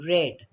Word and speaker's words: read: read out the lesson because there's no s so it must be the past tense form so we will pronounce it as red a child read out